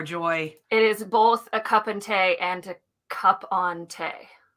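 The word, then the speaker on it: cupán tae: you turning in uh cup and tay is how you say a cup of tea in irish but this mug is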